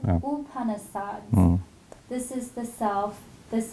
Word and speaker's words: Upanishads: rebuttal of the Chandogya We usually pronounce u, not you. Upanishads.